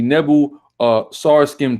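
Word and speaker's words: Nebo-Sarsekim: We have the it's pronounced the Nebu Sarskim tablet as well.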